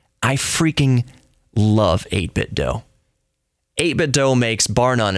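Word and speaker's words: 8BitDo: They're mentioning 8-bit DO controllers. I call them 8-bit DO because you don't pronounce it Nintendo do.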